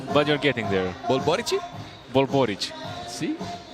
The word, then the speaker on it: Borici: Bulbboric. See, the accent is on the first part of the name, not not the last.